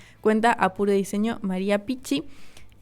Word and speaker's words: Pichi: Entonces, María Pichi, una genia. Yo creo que se pronuncia Pichi porque es doble C el apellido.